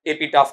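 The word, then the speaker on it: epitaph: कहा जाता है एपी एपिटाफ इसका उच्चारण एपिटेफ नहीं होगा। क्या बनता है आपका? एपिटाफ।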